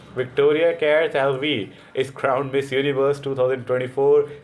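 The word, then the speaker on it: Victoria Kjær Theilvig: specially इनके नाम को प्रोनाउंस कैसे करते हैं विक्टोरिया केर लवी इज क्राउंड मिस यूनिवर्स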